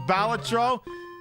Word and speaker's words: Balatro: to my atttention that it may actually be pronounced balatro but I prefer to call it batro anyway all right